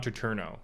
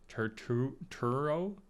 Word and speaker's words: Turturro: it was colin farrell's the penguin and john traterno i don't know if that's how you say it turturro john turturro john turturro as carmine falcon i